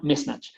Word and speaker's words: mismatch: Y el último es mismatch, no, no mismch sino mismatch. Ya, una diferencia que hagan en esa en dónde pongo la sílaba tónica puede puede cambiar mucho o puede hacer que yo suene raro.